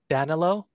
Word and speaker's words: Danilo: How do you spell that? It's D-A-N-I-L-O. D-A-N-I-L. D-A-N-I-L. Danilo?